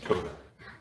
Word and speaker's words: Toa: Whenever you're ready, sir, and would you please tell me the correct way to pronounce your client's name? Toda.